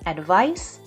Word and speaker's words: advice: and notice the pronunciation advice with a CE is pronounced with an S Sound Advice advise with an